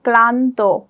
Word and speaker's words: ক্লান্ত: বসানো হয়েছে ল ফলা, তাহলে এটার উচ্চারণটা কি হবে ক্লান্ত।